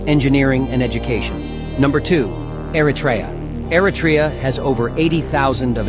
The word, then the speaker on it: Eritrea: Thank you for the proper pronunciation. Eratraa.